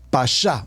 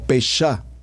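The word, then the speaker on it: פשט: a mencionar como como principio es la palabra pasá por favor como está escrito como lo pronuncio p a s h a t pasá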